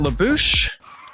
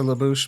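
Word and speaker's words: La Bouche: be my lover La is it labou I pronounce it laou but I don't know Lao it's fun to say labou yeah laou so we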